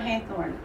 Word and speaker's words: Hathorn: Yes, his name is spelled Hathorn, Heathorn, Haithorn, because they're spelling phonetically. That's how they're saying it during his life period.